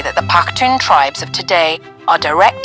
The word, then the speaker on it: Pakhtun: The term Pathan is the Indian mispronunciation of the name the Pathans give themselves. Pakhtun.